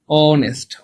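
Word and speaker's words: honest: হচ্ছে বাংলায় লেখার ইংলিশে লিখি কি দেখেন তো অনেস্ট অনেস্ট খেয়াল করছেন বাংলায় লেখলে উচ্চারণটাও এর মত হচ্ছে ইংলিশে লেখলে শুরুতে কি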